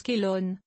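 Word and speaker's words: Chelone: lips photo jardinier paresseux comme les chéon on prononce Kelon ou galanon de curieuses fleurs en forme de de tête de tortue d'où leur nom Chelon vient du grec pour tortue la chéoné oblique Chelon oblica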